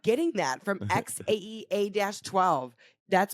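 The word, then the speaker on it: X Æ A-12: and that you want to like X it's pronounced X Ash a12 OH X xash a12 babe I'm not getting that from X AE a-12 that's pronounced that's why they're that's why they're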